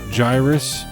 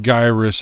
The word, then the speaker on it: Gyruss: familiar with oh and it's not pronounced gyrus i don't know why anybody would pronounce it gyrus it's a gyroscope gyrus it's a play on words so it's it's gyrus um but you know